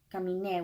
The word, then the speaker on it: caminé: And you see that tilde there, caminé, with an E and then a tilde on top of it. That makes us have to make that the syllable with the emphasis.